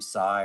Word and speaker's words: Sai: You know, my name sigh rhymes with high.